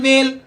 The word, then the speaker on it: veil: इनकी प्रोनाउंसिएशन तो एक होती है, लेकिन इनके स्पेलिंग और इनके मीनिंग में फर्क होता है।